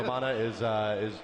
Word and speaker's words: Vamana: I'm sure I'm saying his name wrong. No. Okay, Vamana is right indeed, and we're going to be watching over the shoulder here of the Vamana player.